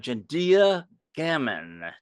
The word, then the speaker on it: Jendia Gammon: new guest here in the dungeon we have gendia gamon did I pronounce that right you did perfectly okay I